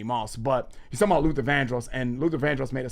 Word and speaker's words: Vandross: my father, Luther Vandros, but he said it van Vanderross, I think he said to make it rhyme with Randy Moss later.